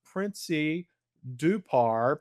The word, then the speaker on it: Princy Dhupar: friend and colleague all the way from India, Princy Dupar. Princy, I hope I didn't mess your name. No, you pronounced it really well, Kevin.